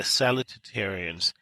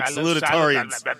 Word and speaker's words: salutatorians: So if you add up the valedictorians and the salutatorians, that means you need to work on your pronunciation of that word, by the way, dude. Salutatorians.